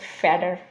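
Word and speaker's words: fatter: হলো ফ্যাট হার তো এটা ওরা ফ্ল্যাপিং করে উচ্চারণ করে ফেডার ফ্যাডার ফ্যাডার তো আমরা এটা সেন্টেন্সে ব্যবহার করতে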